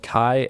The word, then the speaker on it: Kie: It's called Kai AI. It's just Kai.ai. Kai is spelled K-I-E, and it's very cost efficient, very good, non-sponsored, by the way.